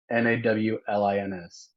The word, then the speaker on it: New Orleans: Well, how do you say it then? New Orleans. New Orleans. That's New Nolans. Orleans. Like Nawlins.